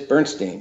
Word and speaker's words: Bernstein: Bernstein, or Bernstein, I don't know how to pronounce her last name. It is Bernstein, yes.